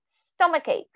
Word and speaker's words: stomachache: pronounce it throat stomach ch in this case will be stomach cake stomachache okay uh sometimes i